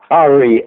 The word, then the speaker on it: Ari: Ari. It's like Harry without an H.